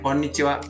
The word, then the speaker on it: こんにちは: Cara pengucapannya konnichiwa.